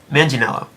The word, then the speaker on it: Manganiello: Started out as Joe Manganiello.